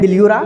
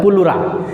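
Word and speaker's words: pleura: पुलुरा लिखते हैं पिल्यूरा पिल्यूरा पढ़ा ई साइलेंट हो जाता है पुलुरा।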